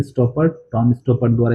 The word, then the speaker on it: Stoppard: तो सबसे पहले ये जो प्ले है ये किसके द्वारा कंपोज किया गया था, तो टॉम स्टॉपर्ट द्वारा, इसका ये प्रोनाउंसिएशन है स्टॉपर्ट, टॉम स्टॉपर्ट द्वारा ये प्ले कंपोज किया गया था।